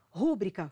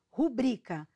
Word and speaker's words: rubrica: palavras bons exemplos são rúbrica forma incorreta qual é o correto rubrica nóbel forma incorreta O correto